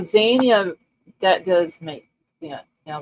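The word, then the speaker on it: Zyanya: So the Y is silent because it comes after Yeah. So yeah, Za. Okay, let me listen to this real quick. See if hold on. Okay, so Zia, that does make sense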